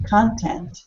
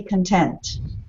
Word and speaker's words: content: noun and adjective so when you add content noun content or to be content content the shift goes to the second syllable so with lots of